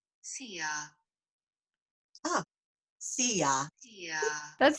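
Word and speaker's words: szia: i don't know this it's spelled s-z-i-a you ready see ya oh see ya yeah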